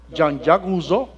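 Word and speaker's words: Jean-Jacques Rousseau: esa naturaleza por ejemplo el ruso jean jacques rousseau es la pronunciación en francés que postuló la doctrina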